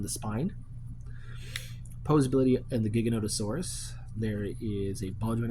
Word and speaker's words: Giganotosaurus: Next, we have the Giganotosaurus, not Gigantosaurus, the Giganotosaurus. I know a lot of reviewers were pronouncing the name wrong.